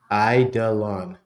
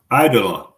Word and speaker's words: Eidolon: I was almost saying it dumb, of the word of the Lost, and it's Eidolon. Eidolon. Yes. Sorry. Like the I-U-I-E, Lon. Again, I didn't know how to pronounce it.